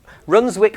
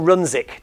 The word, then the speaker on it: Runswick: know that does the some people in the area lose the W some don't so I get into